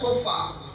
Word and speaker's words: shofar: And a trumpet in Israel और Israel में जो तुरही होती थी is called उसे बुलाया जाता है, shofar. उसे सोफा कहते हैं S-H-O-F-A-R. और सोफा का स्पेलिंग बताया गया है, It's called shofar.